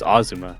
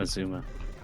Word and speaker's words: Azuma: It's Ozuma, not Azuma. Oh, basically, it's it's the first syllable that's stressed, not the second one.